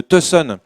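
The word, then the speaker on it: Tucson: relier la ville de tson à la ville de Las Vegas il paraî que ça se prononce ton par ah d'accord ave avec l'accent du Nevada tu vois et et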